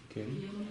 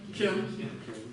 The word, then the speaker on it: མཁྱེན: Как читается он? Кен. Кен.